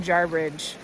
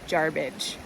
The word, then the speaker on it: Jarbidge: But rest assured, no matter what sixth generation you're talking to who might try to convince you otherwise, it's never been Jarbridge, just Jarbidge.